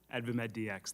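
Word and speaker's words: AdvaMedDx: director of adva Medics ADV Medics is that the way you say it correctly advamed DX thank you ad medx okay all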